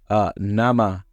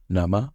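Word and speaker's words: 生: This is one of the kunyomi readings. Here's a mnemonic to help you remember it. Nama, fresh. After eating raw fish, my yoga teacher and I say namaste to the sushi chef, bowing low to show our appreciation.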